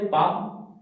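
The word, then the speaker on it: palm: हम लोग कभी कभी बच्चे को कुछ भी वर्ड हो, जैसे हम लोग बोलते हैं पाम, शुद्ध बोले पाम, लेकिन वहां पर सिखाने के लिए बोलना पड़ता है बच्चे पाल, साइलेंट है।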